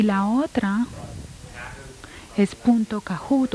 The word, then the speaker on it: Kahoot: Es igual, se escribe igual como suena, Kahoot.